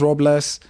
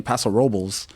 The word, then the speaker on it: Paso Robles: So I always thought it was Robles. And then we get up there and we hear people saying Paso Robles that worked there and that grew up there.